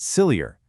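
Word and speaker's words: SILEOR: The community for years has pronounced it sillier, as in this whole situation gets sillier every year.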